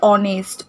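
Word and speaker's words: honest: উচ্চারণটা সেটা উজ্জ থাকছে, এইচের উচ্চারণটা হচ্ছে না, আমরা ওয়ের উচ্চারণটা আসছে, ঠিক আছে? আওয়ার, তারপরে অনেস্ট, ওয়ের উচ্চারণটা আসছে, কিন্তু এইচের উচ্চারণটা কি হচ্ছে না, এইচের উচ্চারণটা কিন্তু উজ্জ থাকছে, ঠিক আছে?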